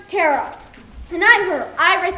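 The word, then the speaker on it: Teara: Her name was Tara. T-E-A-R-A. But it's pronounced Tara.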